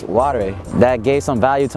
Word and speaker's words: Ware: And his last name was Ware. But come to find out, it was actually pronounced Ware.